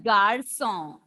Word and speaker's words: garçon: half of 5, and the pronunciation of this symbol when come along with C will be sir, and the pronunciation, we saw few examples. Le garçon.